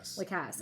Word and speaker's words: Lacasse: Do you say Lacasse or Lacasse? How do you say it? Lacasse. Yeah. I think that's better than Lacasse.